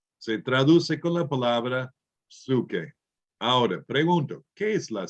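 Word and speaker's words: ψυχή: En griego, la upsilon es como la U en castellano, pero a menudo se pronuncia I por diferentes personas en diferentes ramas de educación. Entonces, en lugar de psuque, psique.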